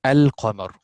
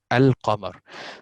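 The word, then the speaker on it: القمر: This lam, actually we pronounce al-qamar. I pronounce the lam here, al-qamar.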